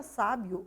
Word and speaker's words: sábio: A palavra sábio ou sábia se refere a pessoa com muito conhecimento, né? Percebam que a sílaba tônica ali está no sa, né? Inclusive é acentuada.